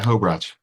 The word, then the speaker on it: Hobratschk: I'm excited today to be interviewing Hobratschk. Did I pronounce that right? That's a tough one. That's pretty good. Yeah, Hobratschk.